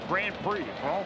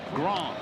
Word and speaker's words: Grand Prix: Almost as phenomenal as you saying Grand Prix. Gro Gro. Yeah, the D there is silent.